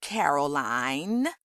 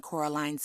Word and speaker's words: Coraline: met her you see Caroline Miss said getting Coraline's name wrong both myself and Miss forcable were famous actresses in our time we trod the boards Levy it's Coraline not Caroline Coraline line said Coraline